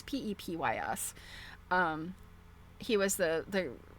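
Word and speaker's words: Pepys: Samuel, it's Pep Ps.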